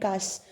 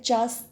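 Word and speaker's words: Chus: Then Jessica, when I was with him I have heard him swear to tubal and कस. वो कहते हैं चास, इसको आप चस प्रनाउंस कर सकते हो, कस प्रनाउंस कर सकते हो.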